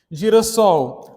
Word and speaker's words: girassol: Girassol, apesar de haver aqui uma consoantezinha de ligação, né, um S aqui, para não ficar girasol, continua sendo a pronúncia girassol.